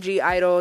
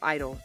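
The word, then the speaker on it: (G)I-DLE: A lot of people call them G Idol. The G is silent, so it's just Idol, basically.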